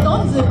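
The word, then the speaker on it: 東遊: 東に遊ぶと書いてドンズーと読む、東に学ぶ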